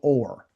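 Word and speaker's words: אור: And this is called or. Okay? Just like you say uh or this or or that.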